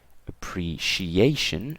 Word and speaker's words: appreciation: appreciation and contribution okay so the first row ends in tion so that means that it's the stressed syllable is two syllables from the end so in this case it'll be right here right so distraction appreciation